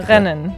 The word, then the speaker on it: rennen: You hear it in the back of your throat a little bit, like Rennen.